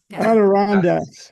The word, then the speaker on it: Adirondacks: Adirondacks.